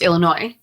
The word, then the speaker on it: Illinois: First, it's Illinois.